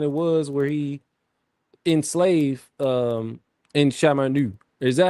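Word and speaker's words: En Sabah Nur: that whatever timeline it was where he enslave Insha Ma Nu. Is that how you Is that how you say his name? En Sabah En Sabah Nu. En Sabah Nu.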